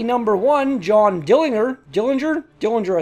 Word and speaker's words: Dillinger: One John Dillinger Dillinger Dillinger I think is what his name is pronounced as he was shot mortally